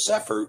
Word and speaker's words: Cepher: So there are times when the letter C is pronounced as an S, as in cement. And so this is why the Cepher is spelled with a C and not an S, because the word begins with a Samic.